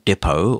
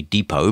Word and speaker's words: Depot: line here is called voicemail Depo or As Americans like to say Depot but it's spelled the same way and it's available at